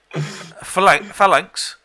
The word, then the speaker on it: Phalanx: Gonna pronounce that. Phalanx.